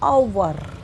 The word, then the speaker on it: hour: क्योंकि इसकी प्रोनाउंस ह से ना होते हुए अ से होती है, आवर, तो आगे आएगा एन।